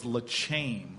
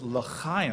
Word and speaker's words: L'chaim: meet me at the Oxford, and I couldn't pronounce the word. I thought it was Lachaim.